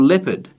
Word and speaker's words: leopard: to spell for example leopard sounds like Leopard but it has this eeo in there if you just know